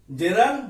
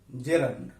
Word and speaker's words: gerund: জেরান্ড versus participle. শুরুতে আমি বলে নেই GERUND এই শব্দটিকে অনেকেই জিরান উচ্চারণ করে থাকে, কিন্তু এটি কিন্তু ভুল উচ্চারণ। সঠিক উচ্চারণ হবে জেরান্ড।